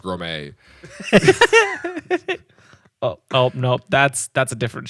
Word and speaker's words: Gromit: Gromit? I think it's pronounced Grommet.